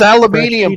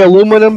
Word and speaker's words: aluminium: You're supposed to just put a It's aluminium foil. I can use it as a cup if I really want I guarantee you there ain't no tin in it. We say aluminum because that's how we spell it.